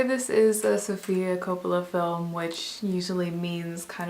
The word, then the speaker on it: Coppola: So the Bling Ring is the latest film by Sofia Coppola, or Coppola.